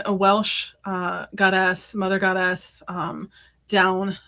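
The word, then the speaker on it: Dôn: Down, I believe, is the pronunciation, but I'm probably continuing my Welsh mispronunciation theme today.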